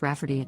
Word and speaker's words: Rafferty: to name my niece Rayfarty, pronounced Rafferty, not at all like Rayfarty.